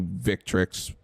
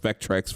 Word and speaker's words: Victrix: On Quamba and the PewDiePie stick, the PDP Victrix. I know I said it wrong, but I keep thinking it's pronounced Vectrex for some reason. It's not.